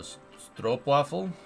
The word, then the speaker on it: stroopwafel: Ooh, O like in stroop would be the O in ho. So stroopwafel. Stroopwafel. Your language is weird, man. I can't make those noises come out of my mouth. Stroopwafel.